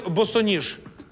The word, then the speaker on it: босоніж: так ні академія маленькими на який склад падає наголос у слові босоніж на другий правильно як перенести слово НАТО